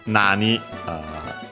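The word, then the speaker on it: なに: It actually comes from nani, what, simple, a simpler what in Japanese, accent on the na.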